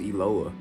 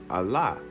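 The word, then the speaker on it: אלוה: It's gonna say Eloah in Strong's, but it never was pronounced Eloah. If you actually look at the Hebrew phonetic breakdown of it, you're gonna see Aleph, Lamed, Hey. How is that pronounced when you are to read it in Hebrew? Allah, not Eloah, Allah.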